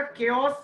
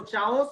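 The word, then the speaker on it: chaos: केओस पढ़ेंगे, इसको चाओस मत पढ़िएगा, केओस।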